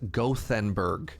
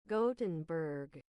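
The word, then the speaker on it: Gothenburg: English speaker me wants to read that as gothenberg no oh man I tried I tried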